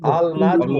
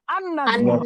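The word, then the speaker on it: النجم: নাজমুন কি হবে না আল নাজমু আল নাজমু আল নাজমুন এটার উচ্চারণটা একটু পার্থক্য হয়ে যাবে আন নাজমু নাজমু আন নাজমু আন নাজমু অর্থ বলেন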